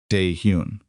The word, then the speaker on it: Dae-Hyun: Dae-Hyun. She said his name the way she had always said it, not shortened, not modified, the full 2 syllables.